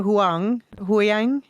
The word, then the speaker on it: Huyang: a long time, Professor Huyang. How do you pronounce that? I usually say Hu Yang.